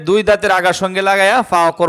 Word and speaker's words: ف: মুড়ানো উপরে এক নক্তা তার নাম কি বলেন ফা আবার বলেন ফা এই অক্ষরটার নাম কি ফা